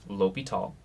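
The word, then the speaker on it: L'Hôpital: And yes, this is pronounced L'Hopital.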